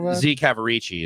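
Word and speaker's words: Z. Cavaricci: a denim brand token Z cavarici is the way you pronounce it so it shows what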